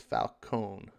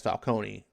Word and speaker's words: Falcone: that can happen but in the films like in the movies and stuff they've always pronounced the falcone as falcone so that's kind of how it seems right to me so um that's that's just where i go with it so if i i'm gonna keep pronouncing it that way um you don't have